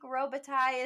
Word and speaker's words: Robitaille: It's French sounding because there's an ILLE at the end, but apparently it is silent. I researched this for at least 10 minutes before the pod, and I saw many different ways to pronounce it, but I think Robitaille is the way it goes.